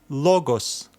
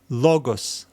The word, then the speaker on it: logos: This is our accent, which means that we will need to stress this letter, this syllable as we read it.